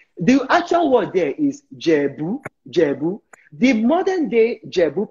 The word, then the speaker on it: Ijebu: So if you're not Ijebu, you will call them Ijebu. The Ijebu people don't call themselves Ijebu. They call themselves Jebu. The I is silent.